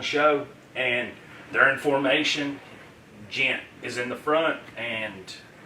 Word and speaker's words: Ghent: So Yeah, it's Jent. Ghent, sorry. No, you're fine. You're But fine. it's spelled G-H-E-N-T.